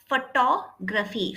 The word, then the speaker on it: photography: Photography. Photography. Photography. Graphy. Okay. Photography. G. Photography. Gr photography. Four syllables.